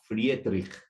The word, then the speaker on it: Friedrich: día estaba checando y creo que se pronuncia Friedrich, porque pues es alemán, ¿verdad?